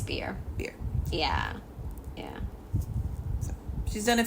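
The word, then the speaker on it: Bier: Susan Beer is how I want to say her name. I think it's Beer.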